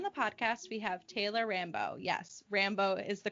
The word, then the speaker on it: Rambo: Today on the podcast, we have Taylor Rambo. Yes, Rambo is the correct pronunciation of her last name.